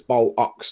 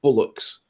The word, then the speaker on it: bollocks: and to say that it's an O, which is BOL, bol, and then ox is OCKS, ox. So it's bol ox, not bullocks. Bullocks are animals.